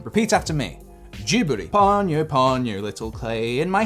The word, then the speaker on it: Ghibli: So Google tells me it is pronounced Ghibli. Also, it's how Miyazaki pronounces it, and I trust Miyazaki. I trust him. Repeat after me. Ghibli.